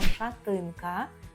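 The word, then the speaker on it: szatynka: це майже так само тільки ми кажемо шатинка шатинка шатинка це шатенка але Зверніть увагу що в нас е шате а в них Шати шатинка і з тим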